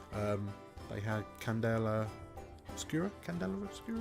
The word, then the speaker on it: Candela Obscura: they had Candela obscura Candela obscura is how you pronounced it yeah um but yeah